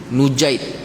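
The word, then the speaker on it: نُجَيْد: Cara baca dia Syekh sebut kat sini, cara baca dia dibaca dengan Dummah Nun Nujaid. Dummah Nun wa fathil jim. Nun pada Nujaid tu dibaca dengan baris depan, jim selepas daripada tu dibaca dengan baris atas ataupun fathah.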